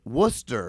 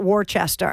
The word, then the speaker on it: Worcester: let you pronounce it Worchester exactly yeah yeah yeah so you know I pronounce it correctly you did it's like Worcestershire like nobody knows really